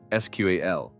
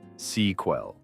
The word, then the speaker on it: SQL: I said SQAL, but my interviewer went on a wild tangent and said it was one word, sequel.